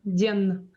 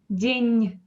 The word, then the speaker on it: день: We don't say день. We say день. It is soft.